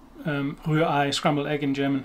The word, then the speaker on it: Rührei: Rührei, scrambled egg in German, it's very difficult. But two German R's that you have to get from the back of your throat, this very, very alien to English speakers.